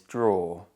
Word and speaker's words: drawer: And the pronunciation is actually quite simple, but the spelling is misleading because it looks like it should be a multi-syllable word, but actually it's only one syllable. The final four letters produce the or sound, and the first two letters are an example of affrication, where the d sound changes to j under the influence of the sound.